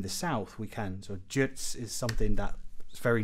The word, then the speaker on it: Ģirts: We have this soft G, and then correct one would be Ģirts.